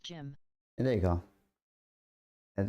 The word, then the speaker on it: Jin: It's pronounced Jim.